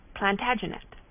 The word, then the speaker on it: Plantagenet: covered with his visor the Latin name for broom is plantag genista and gradually it came to be pronounced plantagenet although Jeffrey was French